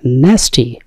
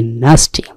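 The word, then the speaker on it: nasty: ন্যাস্টি নাকি নাস্টি, উচ্চারণটি নাস্টি, নাস্টি মানে নোংরা, কবিশ, জঘন্য, কদর্য, নৈতিক ভাবে দুশ্চরিত্র, নোংরা মানুষ, তাদেরকে আমরা বলি নাস্টি।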